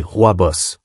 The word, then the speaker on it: Rooibos: Tisane numéro 5, Rowabo, le protecteur doux. Notre dernier trésor végétal est le Rowabo, prononcé Rooibos, qui vient des mots afrikaans signifiant buisson rouge.